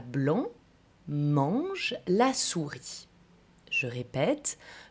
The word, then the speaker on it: blanc: Je dirais par exemple, le chat blanc mange la souris. Je répète, le chat blanc mange la souris. On ne prononce pas le T, on ne prononce pas le C, etc., etc.